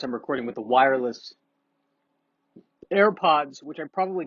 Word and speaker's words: AirPods: is a podcast I'm recording with the wireless AirPods, which I probably called AirBuds from a previous podcast. I am turning into the old man that mispronounces things. I got me one of them AirBuds.